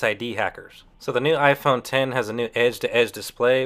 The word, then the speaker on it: iPhone X: Now, although the new iPhone is written down on paper as iPhone X, it's pronounced iPhone X.